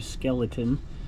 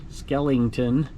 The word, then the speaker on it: Skellington: here Jack Skellington Skellington somebody said I said it wrong last time skeleton Skellington and that's Nightmare Before